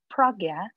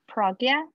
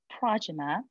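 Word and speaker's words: prajñā: is pragya and this is the way i pronounce it pragya and sometimes it's pronounced as panya and that's more like a party pronunciation sanskrit is pragya and some people pronounce that as prajna and i prefer to pronounce it as pragya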